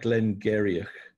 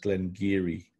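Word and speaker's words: Glen Garioch: of Speyside Glen Glen Giri it looks like Glenn Garioch it's actually pronounced Glen Giri I found this out years after I got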